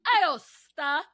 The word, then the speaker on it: Aosta: Aosta.